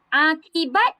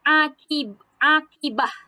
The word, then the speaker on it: akibat: Akibat dengan akibah. Akibat. Sebut akibat ataupun akibah. Dia punya ejaan dia sama, tetapi dia punya sebutan dia boleh berbeza-beza. Ada banyak sebutan.